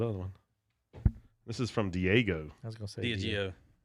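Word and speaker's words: Diageo: one this is from diego how's it going is that how you say it yeah they're they're eugeo they are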